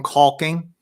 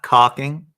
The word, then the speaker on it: caulking: here's another some some caulking not cocking caulking H I know it